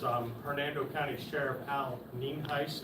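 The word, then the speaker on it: Nienhuis: for your records um Hernando County Sheriff Al ning heis it's pronounced and it is spelled n-i-e-n-h-u-i-s uh I do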